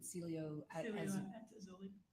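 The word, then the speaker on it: Cielo Azul: the Celia how do you say it again Celio auli say it one more time Celio at auli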